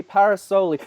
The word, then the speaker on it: Parasole: is and I am joined by joey paras Olli did I say it right you did my